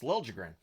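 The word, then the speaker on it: Liljegren: sound right but that's how he wants it pronounced so it's lren uh Rangers press to respond there's a press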